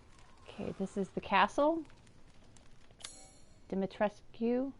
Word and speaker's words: Dimitrescu: this is the castle dimetrescu although i don't think the u is actually pronounced in the game dimitrisk anyway here we go